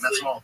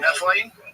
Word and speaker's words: methylene: I stumbled upon was it methanol blue? That's not how you say it. What is the actual methylene?